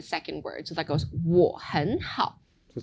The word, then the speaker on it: 我很好: So that goes 我很好.